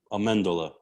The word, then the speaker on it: Amendola: like that speak fluent you would pronounce my name amendola amanda okay and that kind of got lost to amendola but yeah when i